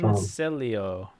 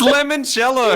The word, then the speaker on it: limoncello: Lemoncello. Looks like a It's limoncello.